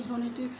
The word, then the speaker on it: ধ্বনি: অর্থাৎ যে আওয়াজ তো ধ এর সঙ্গে বহলা যুক্ত রয়েছে এই ধ্বনিটি কিন্তু আমরা বহলা উচ্চারণ করছি না এবং ধ্বনি এই ধটিকেও